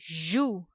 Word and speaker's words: joues: Les joues. Les joues. The last letter S will be silent.